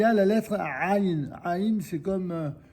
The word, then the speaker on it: ע: Donc le Aïn, ils avaient une tendance à le prononcer comme un Aleph déguisé, quoi. Et en Israël moderne, dans l'Israël moderne, il y a beaucoup d'Israéliens dont le Aïn n'est pas très très différent du Aleph.